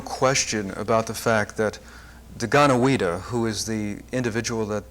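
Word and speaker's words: Deganawida: Well, your central character, Didana, how do you pronounce Daganawida. it? Daganawida, apparently was a very influential character and was historical.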